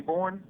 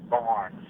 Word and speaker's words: Borne: Everybody calls us Barnes, B-A-R-N-E-S. Mm-hmm. When you say, my name is Ed Borne, they say, oh, Barnes.